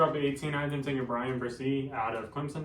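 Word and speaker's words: Bresee: at 18 Argentina Brian versie out of Clemson is that correct pronunciation I'm pretty sure it's Brian bercy yeah um if it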